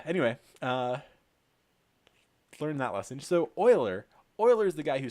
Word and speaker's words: Euler: only learned recently that this name is actually pronounced Euler and not Euler huh anyway learn that lesson so oiler Euler is the guy who solved this and